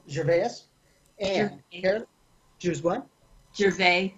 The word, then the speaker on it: Gervais: and yeah there's one Gervais the S is silent yes today I'm marking